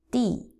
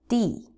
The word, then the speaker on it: 地: Second character, D, D. Fourth tone, D, D.